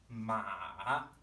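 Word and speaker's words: 骂: Ma, ma. Finally, our fourth tone starts high in our register and falls.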